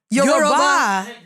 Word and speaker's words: Yoruba: No, Yoruba? it's pronounced Yoruba.